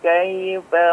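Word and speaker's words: كَيْفَ: Ya, Akh Alvin ya, perhatikan kai ya, huruf kaf atau harakat fathah pada huruf kafnya diperhatikan ya, diperjelas. Tidak kei bunyinya ya, seperti kei ya, tapi kai ya, kai.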